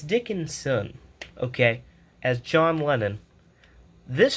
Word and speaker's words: Dickinson: Now Harris Dix Dickerson. No, Dickinson. Oh, wow. I've been pronouncing that wrong.